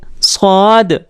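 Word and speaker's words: صاد: वो होता है स्वाद इसका प्रनंसीएशन होता है स्वाद थोड़ा सा हरदम आवाज़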